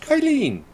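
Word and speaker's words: Qilin: battery with incredible specs that's pronounced kyleen i don't know yeah yeah no with that high pitched voice and everything it's kyleen yeah yes i think that's right now normally when i hear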